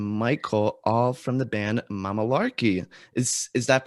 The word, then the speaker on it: Mamalarky: We say Mamalarky. That's how we say our name, but people say Mamalarky, which is also cool.